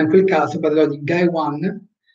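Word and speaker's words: 外腕: Poi dipende, ripeto, posso parlare del braccio, Soto, braccio, Uchi, ma in quel caso parlerò di Gai Wan, Soto si legge Gai, Ude Wan, Gai Wan, e Nai Wan, Uchi si legge Nai, e quindi sarà riferito al braccio.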